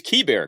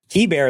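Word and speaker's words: Keibert: And Mark has found the correct pronunciation of that man's name. It is Key Bear. Correct. Key Bear.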